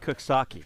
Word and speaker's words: Coxsackie: there's a place it's spelled Coxsackie, but it's pronounced Cooksaki.